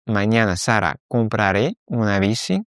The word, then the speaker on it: compraré: Attention, à chaque fois, on va avoir un petit accent sur le A et sur le E de compraré. Comprará, compraré, c'est pour ça qu'on a cette accentuation sur la dernière syllabe.